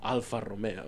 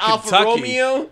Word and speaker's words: Alfa Romeo: it's the name like the name itself Alfa Romeo like it's we say it like that but you get some white guy from oh that Al Romeo Al Romeo and then Enzo